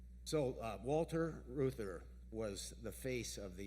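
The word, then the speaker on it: Reuther: his name first Walter Ruther because it's not a name you hear anymore who's that it's spelled kind of strange sort of like Reuters r-e-u-t-h-e-r it's a German name we it's not heard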